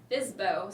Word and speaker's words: FSBO: is an fsbo and i just recently learned that can be pronounced as fizbo so obviously i don't